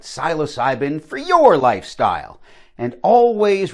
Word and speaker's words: psilocybin: dispensary about the right psilocybin for your lifestyle. And always remember to always dose responsibly, man. In the previous segment, I called it psilocybin. I've been reliably informed it's pronounced psilocybin.